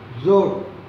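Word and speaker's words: ज़ोर: அடுத்த வார்த்தை ஜோர். ஜா போட்டு கீழே புரிஞ்சு வச்சுக்கிறோம். இசட் உச்சரிப்பை நீங்கள் தர வேண்டும். ஜோர்.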